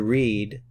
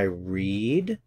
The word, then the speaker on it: read: with the verb to read notice that the spelling in the present and the spelling in the past is the same but the pronunciation is different I read in the present I